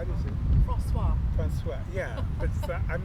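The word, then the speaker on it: François: Francois.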